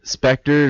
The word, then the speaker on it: Spectre: Spectre's the newest. Is it pronounced Spectre or Spectre? Spectre. It's Spectre? Spectre. Okay. Spectre is the new James Bond movie.